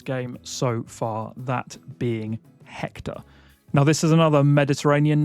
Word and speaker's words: Hector: But if you wanted to be more accurate, you could slightly soften the H and elongate the last syllable and make it Hector. Hector. But Hector is also acceptable.